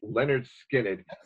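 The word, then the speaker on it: Lynyrd Skynyrd: those and the first Leonard Skynyrd album pronounced Leonard skin it and this is if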